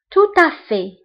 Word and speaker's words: tout à fait: و au fait بالمناسبة، فهنا عندنا tout à fait ما كنطقوش لا لتر تي اللي كاينه في آخر الكلمة. فانتبهوا جيدا. En fait. Au fait. Tout à fait. Tout à fait. هنا التي ما كنطقوهاش.